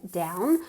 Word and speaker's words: down: So I hope you're not feeling down. I hope you're not feeling blue. To feel down como abajo, ¿ok? Se escribe con una O, pero se pronuncia como si fuera una A.